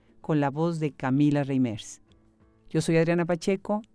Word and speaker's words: Reimers: ¿Lo pronuncio Reimers o lo pronuncio Reiners? No, Reimers. Reimers. Lo españolizamos.